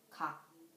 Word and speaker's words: 각: For example, 각. The final consonant of 각 is 기역. And it ends with k sound.